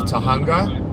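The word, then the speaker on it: Tujunga: or the city of tahunga spelled with a j for all you gringos okay sapien haggis says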